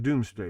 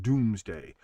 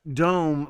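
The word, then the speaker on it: Domesday: He takes the census, the doomsday book, all those other things. Yes, it's pronounced doomsday. Two O's is not pronounced ooh. It's pronounced do. It is the Doomsday book, but it's not dome like, okay, here's my point.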